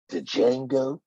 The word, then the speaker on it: Django: Django. I love Django. I love Uh, Django. Sin the first Sin City. You mean? Wait a minute. Isn't it supposed to be pronounced Django? C, the D is silent.